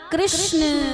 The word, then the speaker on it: कृष्ण: तो लाला का नाम रख दिया कृष्ण। बोलिए कृष्ण कन्हैया लाल की जय। यदि आप सही से कृष्ण नाम का उच्चारण करते हैं ना तो आपकी जीभ टेढ़ी होती है।